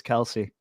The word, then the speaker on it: Kelsey: on you Darren Waller Chelsea Plum's a beautiful woman Derek did I did I get her name wrong yes dude what is it Kelsey Kelsey it's not Chelsea it's Kelsey my bad regardless she's